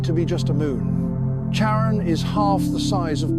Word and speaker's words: Charon: The moon's name is Charon, pronounced like Sharon, not like the ferryman of the underworld, though that's the mythological reference.